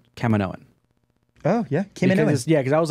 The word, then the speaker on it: Kaminoan: What I love most is that we finally got a very good and solid way to pronounce Kaminoan. Oh, yeah. Kaminoan.